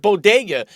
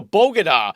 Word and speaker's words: Bodega: player and Jill Biden not even knowing how to say the word Bodega but saying oh you can go to a bogoda or oh you guys